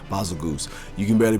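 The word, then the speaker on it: Bazelgeuse: Oh yeah, baby, coming in at number 8, we've got Seregios' long-lost explosive cousin, Basilgoose. I hate that. I used to call it Basilgeus, whatever. Basilgoose.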